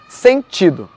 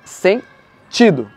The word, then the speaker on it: sentido: bonito o vídeo tá paroxítona é quando a penúltima sílaba é a sílaba tônica então por exemplo na palavra sentido a sílaba tônica está no ti porque é uma paroxítona sem tido certo então eu vou fazer